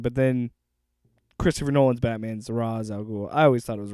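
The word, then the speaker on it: Ra's al Ghul: the Raz all go it's Ray shle huh it's Ray shle whatever I'm joking that's how uh Kevin Conroy's Batman pronounces him but then Christopher Nolan's Batman's ra aloul I always thought it was Rao but anyway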